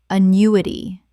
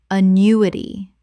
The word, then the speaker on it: annuity: annuity Correct pronunciation. annuity Four syllables with the stress on the second.